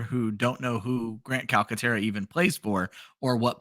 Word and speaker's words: Calcaterra: Calcaterra. That's hard. Two hard C's.